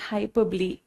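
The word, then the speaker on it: hyperbole: इसको बहुत सारे बच्चे हाइपरबोल बोलते हैं, तो मैं आपका थोड़ा थोड़ा प्रोनाउंसिएशन भी करेक्ट करती रहूंगी, क्योंकि मेरे स्कूल में भी बच्चे इसको हाइपरबोल बोलते हैं, बट दिस इज हाइपरबली।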